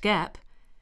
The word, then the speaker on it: GAAP: The term generally accepted accounting principles, or GAAP, pronounced GAAP, refers to a set of rules followed by accountants in preparing companies' financial statements.